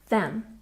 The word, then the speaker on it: them: Remember to put your tongue between your teeth when you say them, them.